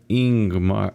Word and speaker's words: Ingmar: and not ask grim ingmar's pronounced Ingemar a leading with the vowel sound that part was obvious